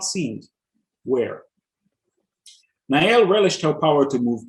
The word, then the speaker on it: Nyelle: six three because uh that's how that works nael and that's spelled n y e l l e so